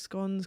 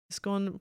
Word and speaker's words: scone: Scone pronounced. Oh, this is also the argument. Is it scone? And then you say it like gone? Or is it scone? Like cone?